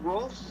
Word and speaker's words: Rolf: Wow, Rolf's video's got 2K. Yeah. Okay. Other people pronounce it as Ralph. Okay? It's Rolf.